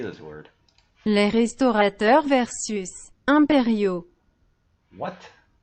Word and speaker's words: impériaux: Les restaurateurs versus impériaux. What? How do you spell it? Impériaux. Impériaux. Impérial. Impériaux. Impériaux. Impériaux. Imperio. Impériaux. It sounds almost like I'll bury you.